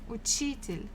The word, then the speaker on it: учитель: Next one, номер 4, учитель, учитель, учитель, a teacher, учитель, учитель. Again, second syllable. If it was on U, it will be учитель.